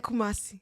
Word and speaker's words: Kumasi: Like, I learned, like, yesterday I was sitting there like, let me learn how to pronounce these words. In Sawam, you got right. Koforidua. Koforidua. Akuse. And Kumasi.